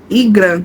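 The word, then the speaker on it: Ingram: E Igran, senhorita Igran, é assim que se pronuncia.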